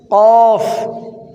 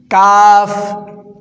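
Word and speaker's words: قاف: জিহ্বার গোড়া থেকে বাতাস বের হবে এই দেখেন কফ কাফ কাফ জিহ্বার আগা থেকে একটু আগে বাড়াইয়া তার বরাবর উপরে তালুর সঙ্গে লাগাইয়া কাফ এইযে এটা খেয়াল করেন কা নেক্সট লাম লাম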